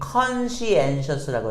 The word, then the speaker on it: conscientious: 친근하고, 그리고 conscientious, 발음이 conscientious라고 해요.